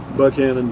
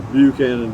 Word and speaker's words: Buchanan: kingsland texas llano texas buckhannon dam or buchanan down depending on how you want to pronounce it so and then also